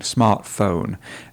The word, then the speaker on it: smartphone: And then she said, in my smartphone, and she really didn't get the pronunciation of the smartphone, the O sound, smartphone.